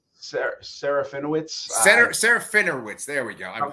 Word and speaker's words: Serafinowicz: Peter Safaranan? How do you say that guy's name? Serafinowicz.